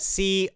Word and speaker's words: content: little vocabulary lesson so content c-o-n-t-e-n-t can be pronounced two different ways you can put the stress the emphasis at the beginning of the word content or you can put the stress on the second half of the word content content and